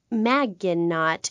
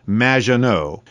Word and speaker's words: Maginot: have mispronounced my name it's which rhymes with badge uh as in duh and no as in more than you Maginot anyway thank you for